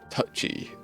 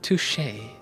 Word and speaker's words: touché: Instead, he said touchy. No, no, I think it's pronounced touché.